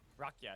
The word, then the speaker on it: Rakia: Rakia is how you say it.